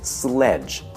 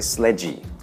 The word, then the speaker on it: sledge: very first word is sledge sledge sledge be sure not to add an extra sound like e to the n okay do not say sledgy all right so practice